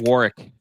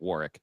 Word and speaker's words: Warwick: Warwick. Warick. Warwick. It's spelled Warwick, but he pronounces it Warick.